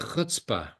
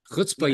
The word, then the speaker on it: chutzpah: In Yiddish, it's called chutzpah, but you have to Chutzpah, pronounce it.